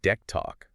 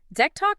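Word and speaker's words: DECtalk: Back in the early 90s, the sources say he was using something called Deck Talk, right? Spelled D E C T A L K, usually pronounced Deck Talk.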